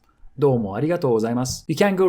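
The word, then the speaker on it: ありがとうございます: doumo and simply keep arigatou gozaimasu. Arigatou gozaimasu. Arigatou gozaimasu. Watch out, because sometimes I hear people say it so fast that it sounds like azas, azas, arigatou gozaimasu, azas.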